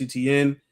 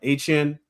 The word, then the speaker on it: Etienne: They did bring in Travis Etienne. Excuse me. He says that it's pronounced Etienne.